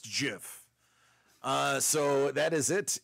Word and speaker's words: GIF: is it it is Jiff it is not GIF the creator of the GIF said yeah no it's it's Jiff it's not GIF it's Jiff like the peanut butter it's graphic not jaffic